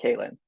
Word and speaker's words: Kalynn: But next up, everyone, we have the queen of like fairy tales, Kalynn Bayron, which I hope I am pronouncing correctly, Kalynn. You are. You got it right.